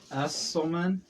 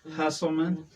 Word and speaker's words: Usselman: But it's pronounced Usselman. Yeah. And when I say my name normal, it sounds like Hustleman.